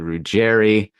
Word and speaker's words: Ruggeri: Rouerry, welcome to the podcast.